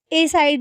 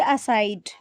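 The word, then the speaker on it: aside: Move असाइड, इसको बहुत सारे लोग है ना ए साइड भी पढ़ते हैं, वो गलत होता है। इस वर्ड की जो करेक्ट प्रोनाउंसिएशन होती है वो होती है असाइड।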